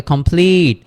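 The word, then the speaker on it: complete: তাহলে কমপ্লিট।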